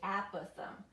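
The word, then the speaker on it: apothem: going to be the a Pithom okay it's a short a app with them so weird you need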